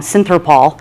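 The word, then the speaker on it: Synthrapol: It's, and I always say it wrong, Synthropol.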